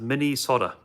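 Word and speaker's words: Minnesota: By the way, it's pronounced mini soda. Mini soda.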